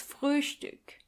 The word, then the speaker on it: Frühstück: And try to pronounce the O umlaut. Das Frühstück.